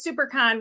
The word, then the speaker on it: SiouxperCon: September September is always Super Con weekend I know you've heard me talk about supercon before um that is spelled s-i-o-u-x-p-e-r-c-o-n Super Con I should like throw